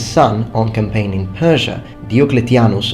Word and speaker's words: Diocletianus: Now, after the death of the emperor and his son on campaign in Persia, Diocletianus, or Diocletianus to use ecclesiastical pronunciation, was proclaimed emperor.